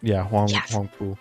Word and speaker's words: Huangpu: Yeah, Huangpu.